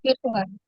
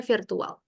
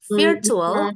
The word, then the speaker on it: virtual: Bacanya virtual. Virtual. Bukan virtual ya. Kalau virtual tuh cara eja bahasa Indonesia. Kalau secara Inggris virtual.